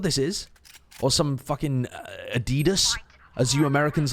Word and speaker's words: Adidas: We pronounce it the way that the people who made the company wanted it to be intended. Wanted it to be pronounced. Intended for it to be pronounced, even. Adidas is just factually incorrect. Adidas. Yeah, it's the guy's name. His first name was Adi, his second name was Dassler.